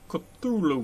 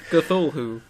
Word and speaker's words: Cthulhu: Cthulhu. I mean, I don't think it really has a real pronunciation. But look, see, it's C, and then Thul, it's Thul, and then who.